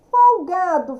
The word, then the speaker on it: folgado: Folgado, fulano é folgado, é o G, tá? A sílaba mais forte, o G. Então, aqui, número 2.